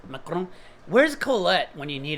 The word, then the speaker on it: macaron: Is it a macaroon? Macaron. Where's Colette when you need her to pronounce French stuff?